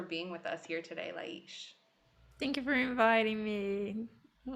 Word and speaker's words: Lais: I'm here with my beautiful friend, Lais Scort, and I say her name Lais because I speak Portuguese from Portugal, and that's the way we would say it. But people call her Lais and Lais and many different things.